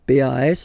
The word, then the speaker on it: pas: Okay, we write it PAS, okay, but as usual, final S is not pronounced, so it's pas.